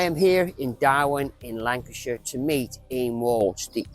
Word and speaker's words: Lancashire: Did I say Lancashire right? Yeah. I did.